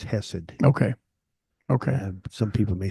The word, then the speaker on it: chesed: h s e d the C is silent then yeah apparently okay